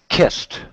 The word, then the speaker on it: kissed: This word is actually pronounced watched. Watched. Very good. This word, stopped. Stopped. Very good. And this one, kissed.